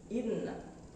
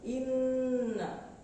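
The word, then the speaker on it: إِنَّا: Tetapi kalau ada di huruf nun ataupun mim yang bertasdid, maka cara membacanya bukan hanya ditekan, tetapi ditahan dua ketukan atau dua harakat. Inna, inna, bukan inna. Yang betul adalah inna. Di dalam ilmu tajwid dinamakan gunnah musyaddah.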